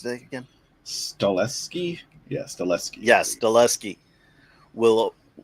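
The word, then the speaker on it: Stahelski: John Wick director Chad Chad stat how do you how do you pronounce the again? Stleski.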